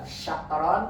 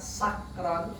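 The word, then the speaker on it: شكرا: Kayak tadi juga syakron dengan sakron beda ya. Hati-hati. Kayak shin, syakir, sakir itu beda banget. Mabuk sama bersyukur kan jauh ya.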